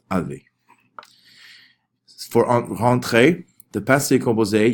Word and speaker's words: avait: Even though there's a whole bunch of letters here, don't worry about them. It's still pronounced avait.